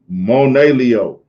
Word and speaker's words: Monelio: Monelio, Moneleo, Leo, like Leo.